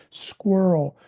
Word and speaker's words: squirrel: Squirrel. That's got the k uh k sound in it. C- skirl skw.